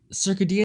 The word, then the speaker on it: circadian: And piggybacking on top of that, I was also reading about with your circadian. Is that how you say it? Circadian? Circadian. Yeah. Circadian.